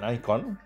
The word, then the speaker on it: Nikon: তারপরই দেখলাম আরো একটা ভালো খবর আজকালে বেরিয়েছে যে নিকন বা নাইকন আমেরিকান নাই নাইকন বলে আই আই করে উচ্চারণ হয়।